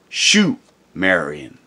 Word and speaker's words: Sumerian: understand to this day called sumerian or pronounced shu marian this perhaps alone proves